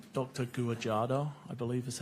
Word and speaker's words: Guajardo: Guajardo, I believe is how it's pronounced.